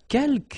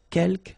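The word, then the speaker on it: quelques: now the second one uh kelk you don't pronounce the final s here keelk means few okay and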